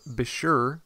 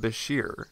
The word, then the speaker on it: bichir: how the name bashir should be pronounced the pronunciations range from besher to bicker and biker but we're sticking with bashir since that's what wikipedia says is right beshears